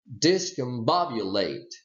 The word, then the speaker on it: discombobulated: more heavily and then you stress this one and this syllable okay more heavily than this one and then this one it's very simple so what you say is like if you play with your if you clap with your hands here we go this is secondary stress and this is primary stress you would say discombobulated ok now this is a